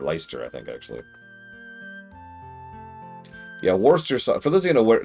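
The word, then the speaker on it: Worcestershire: For those of you aware not aware of the joke, Worster is spelled Worstershire because the British would would not know pronunciation if it walked up and smacked him in the face.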